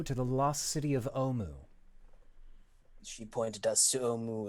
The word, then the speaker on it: Omu: It's pronounced uwu. RinRin, dear, it is Omu, the forbidden city, the lost city. I was always told it was uwu.